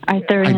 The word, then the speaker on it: Arthurian: And I guess going back into the Arthurian, is that how you pronounce it? Legends? Yes, Arthurian.